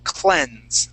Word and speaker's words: cleanse: is going to be cleanse okay now in this this uh uh uh uh word okay the ea will actually make a short e sound okay what i mean